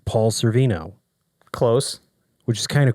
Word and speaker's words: Sorvino: um paul's i'll say his name right paul cervino close which is kind of crazy right i